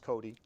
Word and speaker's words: Cote: people can see and my name is is Cody pronounced Cody thank you very much I mess up so many names it isn't funny I'm lucky I can pronounce my own I always get coat people always say coat ethnic origin German uh